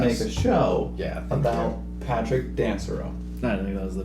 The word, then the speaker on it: Dansereau: A lot of people don't know how to pronounce it. Dansereau.